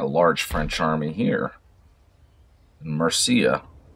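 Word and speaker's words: Murcia: large french army here mercia or marthia as you might pronounce it let's go ahead and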